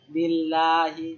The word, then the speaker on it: লিল্লাহি: আর যখন আল্লাহ শব্দের লামের পূর্বে আমরা কাসরা জের পাব তখন কি উচ্চারণ হবে? পাতলা উচ্চারণ হবে। যেমন আল্লাহ শব্দের আগে জের। যেমন লিল্লাহি। বুঝতে পারলাম?